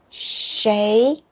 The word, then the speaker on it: 谁: So this one, what in Chinese it's 什么 the second tone 什么 and the who is 谁 sh, the pronunciation of sh is sh, ui is wei is very strange because the real pronunciation is this.